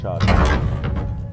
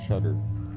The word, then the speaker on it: Shadra: It's like shaded, or Shadra. Not Shudder. Shadra.